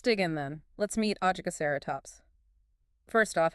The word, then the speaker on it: Ajkaceratops: Let's meet Ajaceratops. First off, how do you say that? Ah, yes. It's oaseratops. Oaseratops.